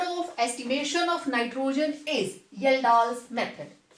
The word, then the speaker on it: Kjeldahl: Next method of estimation of nitrogen is येल्डाल्स method. इसमें K silent है, K को चुप करा दिया है, तो दिस इज येल्डाल्स. J से स्टार्ट करते हैं.